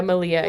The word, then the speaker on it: Malia: Is it Malia Obama? Malia? Oh, yeah, Malia.